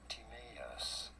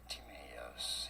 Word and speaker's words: Timaeus: There are two different ways of saying it, either Timaeus being closer to the original Greek pronunciation. Timaeus in English, however, it is often pronounced as Timaeus or Timaeus are both correct pronunciations.